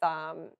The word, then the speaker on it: Nikocado: But one was like recommended with Nikocado.